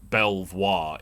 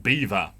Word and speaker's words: Belvoir: apparently it's not pronounced belvoir it's spell b-e-l-v-o-i-r belvoir no no no no no that's that's not how they they play that game here in leicester it's apparently pronounced beaver spelt belvoir pronounced beaver it's not even like